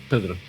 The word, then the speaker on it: Pedro: And I am Pedro. That's how you say it.